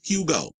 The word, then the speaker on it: Hugo: to say his name his name is hug hug go with an h q not U not I not e not U it's Hugo so there you go